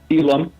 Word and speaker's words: Elam: I don't even know if I pronounced your last name correct. Is it Elam? Elam.